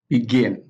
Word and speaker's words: begin: nouns and adjectives because verbs generally have the stress on the second syllable we have like accept accept begin begin discuss discuss prevent